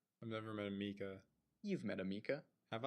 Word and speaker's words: Micah: Wait, are you pronouncing Micah and Micah and like the Mika. same Some name? people care. I've met one of each. But I'm now lumping them as Micah and Mika. Okay. I've Sure. never met anybody that pronounces it Mika.